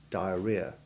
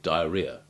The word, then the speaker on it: diarrhea: the second vowel where it is unstressed and has a weak ivy sound, as in the O of violent, or violin, or the first A in that awful word, diarrhea. Such words are often mispronounced by sloppy speakers without the second vowel, as violent or diarrhea, despite the fact that